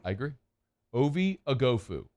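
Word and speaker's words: Oghoufo: do it one more time one more time agofu shout out to Texas for having the pronunciation not only the guide the phonetic spelling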